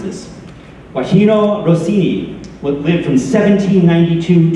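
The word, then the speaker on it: Gioachino: Overture so uh uh I learned how to pronounce this guajino Rossini what went from 1792 to 1868.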